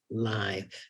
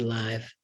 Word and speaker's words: live: Next to that one, I see the word live. I know it is meant to rhyme with strive. It was recorded live, but it could just as well rhyme with give.